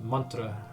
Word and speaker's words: mantra: So it's actually pronounced mantra.